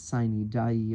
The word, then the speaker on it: sine die: The term adjournment sine die, I'm using the note here as a pronunciation guide, and the notes are written slightly strange.